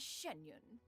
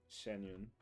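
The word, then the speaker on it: Xianyun: occasions be sure to refer to one as shenyun shenyun Shen Shen sh I've been have I been pronouncing her name wrong this entire time am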